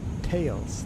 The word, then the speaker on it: Thales: No, it's Thales. It's pronounced Tails. Thales?